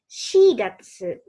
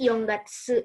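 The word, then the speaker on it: 四月: Keempat shigatsu. Nah, kalau untuk penamaan bulan, ini pakainya shi. Jadi yongatsu itu jarang digunakan gitu ya. Adanya shigatsu. Yang cukup umum itu shigatsu.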